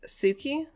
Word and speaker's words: Tsuki: Do you think it's pronounced Suki? Yes, absolutely.